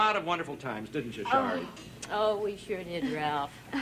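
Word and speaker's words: Sari: You spell it S-A-R-I, but you pronounce it Shari, is that right?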